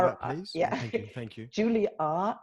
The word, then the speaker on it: Julia: Julia, not Julie. It's Julia.